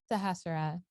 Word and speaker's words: Sahasrara: Sahasrara.